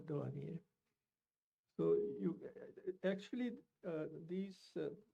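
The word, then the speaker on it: Douanier: the internet h e n r i a dwan d o u n i e r dwan.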